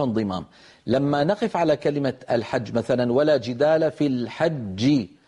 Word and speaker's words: الحج: تتألف من الحاء المفتوحة ثم بعدها جيم مشددة. ما معنى مشددة؟ يعني فيها جيمان ساكنة ثم جيم مضمومة. الحج حج، هذه الأولى الساكنة مدغمة يعني تخرج بالتصادم.